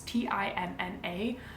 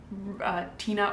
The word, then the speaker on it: Tinna: It's Tinna. So in my head I was kind of saying like Tina or Tina, and neither really sounded right.